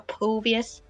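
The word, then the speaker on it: Phoveus: Do we say Phobius or Phobius? It's Phobius.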